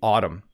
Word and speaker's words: autumn: The word autumn can be tricky for English learners. You can just ignore the N at the end of the word. Don't try to pronounce the M and N together. It's simply autumn.